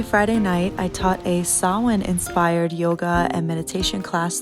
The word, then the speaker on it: Samhain: night i taught a sawin inspired yoga and meditation class through my patreon is a gaelic word that looks like this but it's pronounced like this sawhin is an ancient celtic